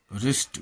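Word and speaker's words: wrist: W silent W आर या डब्लू एस डब्लू में डब्लू प्रायः साइलेंट रहता है, जैसे रैप लपेटना, रिस्ट कलाई, रैक छती, राइट लिखना, आंसर उत्तर, सोर्ड तलवार।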